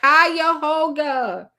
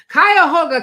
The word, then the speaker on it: Cuyahoga: Oh, somebody was texting me to help me with the pronunciation. I see all the messages. You guys are like Cuyahoga. NP, are you speaking in tongues? Okay, that's what it sounds like. Okay, Cuyahoga County.